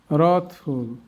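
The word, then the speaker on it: wrathful: Double U এর পর আরও থাকলে ডব এর উচ্চারণ হয় না। এমন শব্দগুলো আমরা দেখাই। রংলি রং রথি রথফুল রংফুল রংস রঙ্গেস্ট এবার আমরা অর্থগুলো শিখবো রংলি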